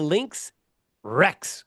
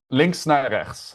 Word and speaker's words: links naar rechts: I've got to learn about This is called the links Rex. Did I say it right? Links Rex. Links naar rechts. Yeah, very close.